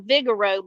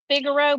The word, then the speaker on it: Figaro: where you where you want to go it's Vigoro of course and how are you spelling that because you're saying Vigoro but it's figuro but it's pronounced fi G a r o yeah I